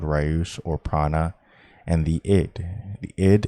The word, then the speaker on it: prana: of the energy called prana correct pronunciation pran nya in san crit in the kabbalah this